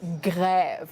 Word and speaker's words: grève: As for the accent grave, it's more, you pull down your mouth a little bit, grève, like a strike, grève. Grève, as opposed to été.